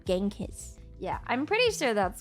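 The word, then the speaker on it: Chinggis: Why do I say Ching is weird? because um I watched this show called Marco Polo and I think in actual Mongolian it's pronounced Chingis, not Genghis.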